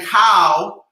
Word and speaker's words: khao: And khao doesn't mean the shape of my body. It means rice. It means rice. Khao, K-A, phonetically K-H-A-O, khao pat.